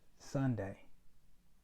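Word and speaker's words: Sondae: believe he pronounced it I believe he pronounces it Sunday Sunday but it's not SP like the day of the week um s o n d AE and uh there's this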